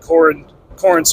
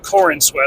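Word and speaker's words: Corenswet: of little interviews with David Corin Corin, excuse me, David Corinwat, let me say his name right.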